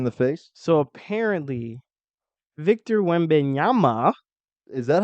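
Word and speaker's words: Wembanyama: face so apparently Victor when benyama is that how you pronounce it yeah yeah it sounds like Yamaha it looks like Yamaha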